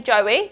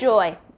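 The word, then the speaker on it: Joie: don't get me wrong i used to say joey but it's now it's joy you have now been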